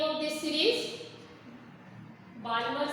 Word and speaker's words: Balmer: Balmer series, okay? L is silent.